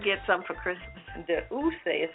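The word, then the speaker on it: D'USSÉ: De Ousse Cognac VSOP.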